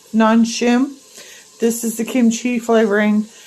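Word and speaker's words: Nongshim: favorite spices and my favorite Ramen it's uh non Shin am I pronouncing that right n o n g s h i m non shim this is the kimchi flavoring and this is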